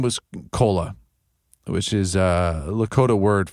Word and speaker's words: Kola: Her name was Kola, which is a Lakota word for friend, and it's spelled Kola.